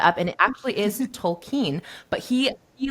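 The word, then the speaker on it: Tolkien: you know I was like how do you pronounce this last name and I searched it up and it actually is tolken but he he like swore up and down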